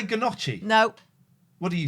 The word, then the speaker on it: gnocchi: Imagine how one might pronounce gnocchi badly. Then listen. How do you think this person's going to say gnocchi? Noshi.